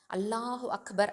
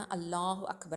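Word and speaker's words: اللهُ أَكْبَر: சில பேர் நீட்டி சொல்கிறேன் அப்படின்னு சொல்லிட்டு உச்சரிப்பை பிழையாக சொல்லுவாங்க. அல்லாஹு அக்பர்னு சொல்லுவாங்க சில பேர், இல்லைனா அல்லாஹு அக்பர் அப்படின்னு சொல்லுவாங்க சில பேர், அல்லாஹு அக்பார் அப்படின்னு சொல்லுவாங்க. ஸோ இந்த மாதிரி தவறுதலாக நம்ம உச்சரிச்சிடக்கூடாது.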